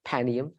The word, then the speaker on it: Panium: Raphia and Panium, or Panium, depending, I say Panium, but I agree with you. It's the proper way to say it, Panium.